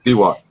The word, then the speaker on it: Tigua: The Pueblo Indians, am I pronouncing that right, Frankie? Tiwa. The Tigua, sorry, the Tigua. Big difference there.